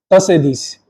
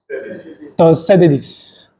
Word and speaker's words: Thucydides: Please help me with that pronunciation again. Thucydides. Thucydides.